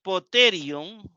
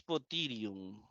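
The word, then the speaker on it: ποτήριον: Aquí se pronuncia como la E española y aquí como la I española. A veces me gustaría y a veces lo pronunciaría poterion y muchas veces potirion.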